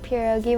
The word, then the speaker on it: pierogi: my favorite things is every year we make pierogi with our family okay now what no can